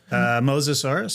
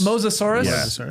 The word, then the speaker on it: Mosasaurus: How's it pronounced? Mosasaurus. Mosasaurus.